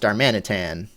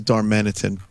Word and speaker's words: Darmanitan: I think it should be pronounced Darmanitan. Maybe. Oh, I Yeah, I think you're right. Like an orangutan. Yeah, Darmanitan. I I thought it was Darmanitin. That would be my guess at least.